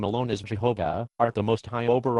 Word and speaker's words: Jehovah: Today many Hebrew scholars prefer Yahweh as the true pronunciation. However, consistency favors Jehovah. In what way? The pronunciation Jehovah has been accepted in English for centuries.